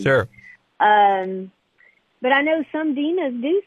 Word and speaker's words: Deana: So yes, it's Deana, like two E's, but it's spelled like Dean with an A on the end. When I first saw it, I thought it was Deana too, but that was